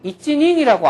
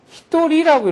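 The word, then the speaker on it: 一人: 한 사람은 이찌닝이라고 안 해요. 워낙 한 사람이라는 말을 많이 쓰니까 이것을 얘네들은 고유명사로 히토리라고 읽어버려요. 전혀 음가가 예상이 안 되는 음가로 읽어버려요. 그래서 한 사람은 히토리지 이찌닝 이렇게 안 해요.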